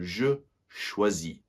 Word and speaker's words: choisis: And that S is silent. So, je choisis. Je choisis.